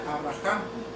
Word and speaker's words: Abraham: vida por lo tanto cuando Abraham se le inserta una una letra Hey en su nombre que en español es una letra h se pronuncia Abraham que significa padre de